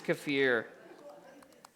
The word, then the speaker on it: kefir: hey Mark Mark's the man why what is cafir and thank you for saying it correctly you